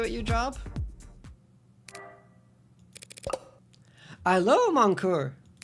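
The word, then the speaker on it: cœur: Allô, mon coeur. It's pronounced cur.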